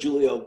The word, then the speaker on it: Giulio: started a youtube channel so if you put julio baglio which is spelled with a g g i u l